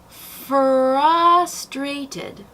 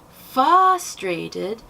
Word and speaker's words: frustrated: Frustrated. It's not frustrated, and it's not frustrated. There's no L in it, and the R is pretty relevant.